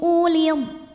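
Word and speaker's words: أولي: Ghairu ulid. Nah, waw ini walaupun didahului hamzah yang berbaris dhammah, ini bukan mad badal. Wawnya tidak perlu dibaca sehingga hamzahnya ini pendek.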